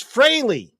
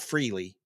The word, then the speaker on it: Frehley: Ace Frehley. And it is pronounced Frehley, not Freely. I grew up calling him Ace Frehley.